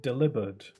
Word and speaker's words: Delibird: I recently heard someone pronounce it Delivered, which sounds like the word delivered, and Delibird, you know, delivers stuff. So is his name supposed to be Delivered? Is his name supposed to be pronounced as Delivered? Not Delibird? It kind of sounds weird. I kind of like saying Delibird, though.